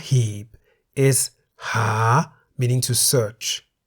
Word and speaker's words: หา: The single syllable in the word หา is a live syllable because it ends with a long vowel สระ อา. The initial consonant ห หีบ is a high class consonant, therefore, based on the tone rules for a live syllable, หา is in the rising tone.